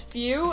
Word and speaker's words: Fu: mind you, is the Foo DLC, the Few. By the way, fuck them. They want me to pronounce it as Few.